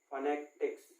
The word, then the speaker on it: phonetics: फोनोटिक्स ना बोल के इसको फोनेटिक्स बोलते हैं, जो सही प्रोनाउंसिएशन इसका होता है।